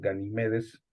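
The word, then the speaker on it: Ganímedes: famoso ganime de animedes es la forma correcta de pronunciar el nombre del aguador ganimedes pero lo encontramos con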